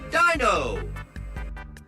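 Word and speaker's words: Deino: Dino.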